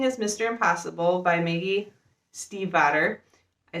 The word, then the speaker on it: Stiefvater: Impossible by Maggie Stiefvater.